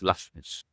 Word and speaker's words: Lachmish: it's a Libyan origin surname, so it's Lachmish.